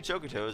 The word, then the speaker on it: Chocoto: And I found out that Chocoto was actually the official pronunciation from a Neopets editorial that was recent. So I'm saying it the right way now. Before I wasn't sure how it was actually pronounced, but now I know it's actually pronounced Chocoto.